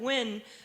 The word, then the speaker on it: Nguyen: I started to tell people to just pronounce it Nguyen. Because I got tired of trying to correct their pronunciation, because the Western speech patterns cannot handle the intricate details of my language, because at least, even if they got it wrong, it would still be win.